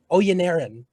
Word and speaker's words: Oyeniran: Oyeniran. Yep. Oyeniran. Yeah. So it's more like air, AIR.